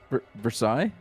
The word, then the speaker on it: Versailles: Versailles. There's a town in in Kentucky that's called Versailles. Got it. But we we call it Versales.